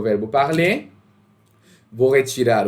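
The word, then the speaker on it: parlent: Cuidado aqui com a pronúncia, não é il parlant, é il parle, ok? Extremamente importante isso, não pronunciem o ENT.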